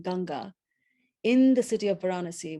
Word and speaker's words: Ganga: And to have one's ashes poured into the holy river Ganges, which is pronounced in Indian Ganga, in the city of